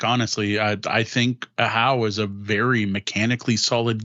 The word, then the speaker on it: Ahau: I didn't know it was pronounced Ahau, like you're yelling, until learning it from the publisher.